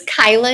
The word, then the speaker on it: Kaila: So, my name is Kyla and it's spelled K A I L A.